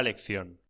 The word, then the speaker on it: lección: Footnotes relating to words and phrases in Primera lección. page 9 footnotes. 1. Lección. Pronúnciese lección. La C se pronuncia antes o delante de E y de I, como en th en inglés.